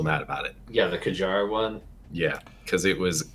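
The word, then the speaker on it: Kjárr: Yeah, the Kajar one. Yeah, because it was insane. Kiar, that's how you say it? Yeah, it's Kiar.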